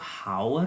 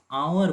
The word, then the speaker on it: hour: अब बताइए HOUR, बताइए तो इसका प्रोनाउंसिएशन क्या होगा, HOUR। इसको क्या हम लोग हावर बोलेंगे या आवर बोलेंगे? आवर ना बोलेंगे, यानी यहाँ पे जो H है इसका लेकिन ह साउंड नहीं है।